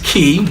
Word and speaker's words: Kee: My last name is Kee, so I'm fortunate enough to be able to kind of play off of my last name. It is pronounced exactly like K-E-Y, but it's spelled K-E-E.